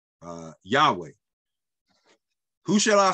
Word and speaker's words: Yahweh: And actually, the word is pronounced Yahweh, Yod, Hey, Vav, Hey.